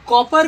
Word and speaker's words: Cowper: दोस्तों आप लोग COWPER का प्रोनाउंसिएशन COPPER जैसा करेंगे। आप लोग पढ़े हैं ना, कॉपर मीन्स तांबा, उसी तरह आप इसका स्पेलिंग करेंगे कॉपर का, तो विलियम कॉपर।